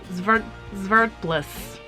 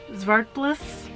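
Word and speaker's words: Zwartbles: watching and okay so this is what they told me it should be pronounced as and i did look this one up and it was like vert bliss zvartbliss sparkles does that sound right someone tell me please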